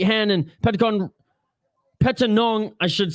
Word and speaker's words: Petchtanong: round oh and a beautiful counter knee by Pentagon akimoto came in with the right hand and pentagon Peta Nong I should say my apologies for mispronouncing that